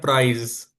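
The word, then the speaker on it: Preis: प्राइस को बोलते हैं प्राइज। PAIES, प्राइज। इसके स्पेलिंग में थोड़ा से फर्क है। ये प्राइज और वो इंग्लिश में प्राइस।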